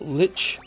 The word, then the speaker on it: lich: just remember guys but lich rhymes with as in i'm about to make you my there was a